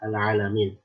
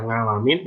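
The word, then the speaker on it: العالمين: Begitu pula al-alamin, ya al-alamin. Al-alamin kalau kita baca ngalamin itu nggak ada artinya.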